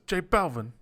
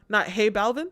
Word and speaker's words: J Balvin: And he says, J Balvin. J Balvin, man. Bad Bunny. J Balvin. Yeah. Not Hey Balvin? And it's not like Hey Balvin. Hey Balvin. No, he says J Balvin.